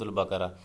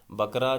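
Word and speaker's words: البقرة: کو کہا جاتا ہے۔ یہ بقرہ نہیں ہوتا، کچھ اسٹوڈنٹس جو ہیں وہ تلفظ کی غلطی کرتے ہیں، جب اس کو پڑھتے ہیں تو سورۃ البقرہ۔ بقرہ جو ہے وہ عام جو بکری اور بکرا، بھیڑ بکریاں جیسے ہم کہتے ہیں وہ ہوتا ہے، یہ لفظ جو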